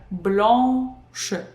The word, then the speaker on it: blanche: First, we complete pronouncing nasal A sound, and only then we pronounce sh. Blanche, not blanche, blanche. No, we do blanc, pronounce, we go to sh. And sh is kind of pronounced in this E position again.